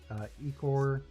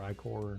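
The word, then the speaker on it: ichor: Each booster contains borderless cards, special lands, Ecor showcase cards. Is that how you pronounce it? Ecor or Icor? Icker. Icker, okay.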